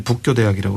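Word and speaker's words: 佛教大学: 일본 발음으로는 이제 북교대학이라고 이제 부르는 대학이고요.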